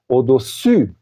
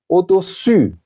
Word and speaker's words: au-dessus: Je peux encore prononcer ces deux prépositions. Au-dessous de, c'est-à-dire en bas, au-dessus de. Regardez la forme de ma bouche. au-dessous, au-dessus, au-dessus, ok?